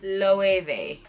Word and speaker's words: Loewe: you see a W it is pronounced with a v8 because we have ello so low and then the e a cuz like we said it is German so the e is not E is a low a no way